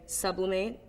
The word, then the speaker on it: sublimate: Sublimate, well I think just the emphasis is more on mate than sub. In English you would say sublimate, or I would say that, and in French it's most like sublimate.